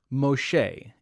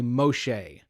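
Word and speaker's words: משה: So she adopts this baby, and she names the baby Moses, or Moshe is the Hebrew pronunciation, I think. Everyone say Moshe.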